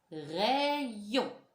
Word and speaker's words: rayon: Rayon. On imagine que le Y, c'est deux I. Rayon.